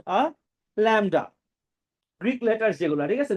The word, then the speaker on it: lambda: With a symbol that looks like this, and you should know that it is pronounced a lambda.